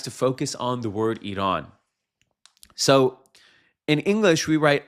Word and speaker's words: Iran: This is where this fundamental disconnect comes from that makes the word be pronounced Iran in English, because there's no Y in the English writing.